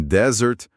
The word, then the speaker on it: desert: Em desert, o deserto, a força tá na primeira sílaba. Em desert, a sobremesa, o stress vai lá pra última.